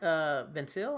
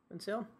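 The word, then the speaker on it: Vancil: Obviously, Mark Vincil, I think that's how you pronounce his last name, Vincil.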